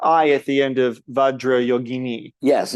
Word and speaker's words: Vajrayogini: Because it's Sanskrit, and you, for a start, the J in Sanskrit is pronounced J. It's not French. It's Sanskrit. Vajrayogini, like that.